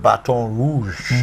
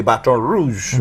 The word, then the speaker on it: Baton Rouge: the place was called Baton Rouge. As we know, they say, the Americans say Baton Rouge, but we know it's Baton Rouge, as in a red stick.